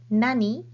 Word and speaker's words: 何: it in a sentence this question word what has two pronunciations in Japanese either Nani or Nan and they change the pronunciation depending on what word comes after the question word Nani is used before a particle and n is used before this and counters so a question word